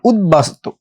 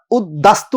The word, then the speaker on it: উদ্বাস্তু: এইখানে দেখেন উদ্বাস্তু, একটু আগে আমরা দেখলাম যে বফলা হইলে অদ্বিতীয় বলছিলাম, দটা ডাবল হয়েছে, কিন্তু এখানে তো উদ্দাস্তু বলি নাই, ওইখানে অদ্বিতীয় বলছে, দটা কি হয়েছে?